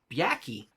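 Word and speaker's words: Byakhee: For instance, for the Byaki, is that how you pronounce it? I can look it up. Yeah, Byaki.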